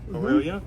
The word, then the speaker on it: Orillia: Is that how you pronounce that? Orillia. Orillia.